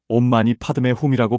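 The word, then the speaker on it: Om mani padme hum: 온마니반 매훔은 산스크리트어로 온마니 파드메훔이라고 발음합니다.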